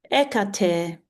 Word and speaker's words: Hecate: all those eras Um, Hecati or Hecate um is Echer Echer and she is a goddess.